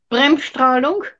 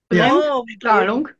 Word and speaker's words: Bremsstrahlung: Manuela, How do you pronounce that? Which one? Bremsstrahlung. Bremsstrahlung. Bremsstrahlung.